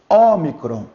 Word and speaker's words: Ômicron: Aqui nós temos Ômicron.